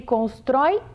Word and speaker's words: constrói: E na palavra constrói, a última sílaba é forte, o O fica bem aberto.